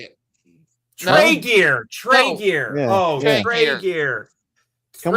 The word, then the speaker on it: Tregear: Tregear. Oh. Trigger. Whatever. Taiga? How do you say it? Tregear.